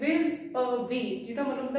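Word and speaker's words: vis-à-vis: हाँ मैं प्रोनाउंसिएशन लिखती, कई बच्चे कहते हैं विस-अ-विस, इट इज नॉट विस-अ-विस, इट इज विज़-अ-वी, जिसका मतलब होता है नालों।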